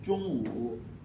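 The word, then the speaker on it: 中午: Ça se lit Zhongwu. Zhongwu, ça qui s'écrit comme ça.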